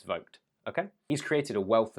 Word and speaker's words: Vogt: artist Wolfgang Vogt, and yes, Vogt is the correct way to pronounce it before you say it's Voigt, it's not, it's Vogt.